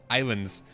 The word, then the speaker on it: Ylands: Islands the game is you might be asking why I say Islands when it's spelled wylands the developers I'm pretty sure aren't American and so wherever they're from it makes more sense uh it's supposed to be like you know like iPad it's like my Island make